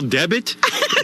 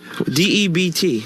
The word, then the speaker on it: debt: A special debit? Debit? Spell the word. D-E-B-T. All right, now spell it out.